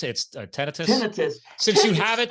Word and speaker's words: tinnitus: Again, some people call it tinnitus. How do you pronounce it? It's tinnitus.